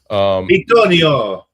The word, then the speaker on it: Bitonio: A little DeVito symbol. Bitonio.